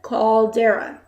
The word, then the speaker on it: caldera: it oh my god this word is pronounced exactly as it's red called dara okay there's no mystery